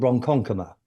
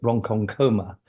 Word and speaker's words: Ronkonkoma: And there's a place called Ronkonkoma, not far away, and somebody pronounced it Ronkonkoma.